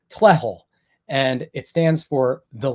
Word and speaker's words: TLEHL: what do you do it's an acronym it's pronounced Tel and it stands for